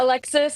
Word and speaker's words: Alexis: And then Alexis, don't want to pronounce her name wrong. Yeah, Alexis.